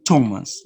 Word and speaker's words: Thomas: thought that those but there are some cases like this that you produce the santa thailand thames the river no and thomas the name of the person let's fast to the